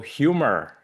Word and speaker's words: humor: So imagine the humor is spelled like H-U-M-R. So humor.